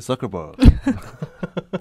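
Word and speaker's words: Zuckerberg: 네, 마크 서커버그. 이름이 진짜 특이해요. 그렇죠, 특이하죠. 마크 서커버그인데 제트 발음 잘하시네요.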